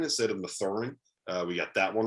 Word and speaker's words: Mathurin: Dallin Cuff messed me up, man, by having his name pronounced differently than Dalen Terry. So I blame him for that one. It's Benedict Mathurin instead of Mathurin.